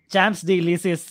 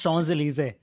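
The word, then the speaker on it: Champs-Élysées: a street called the famous street called uh champs delicious which is pronounced shawn's elysee and it makes no sense yes you're right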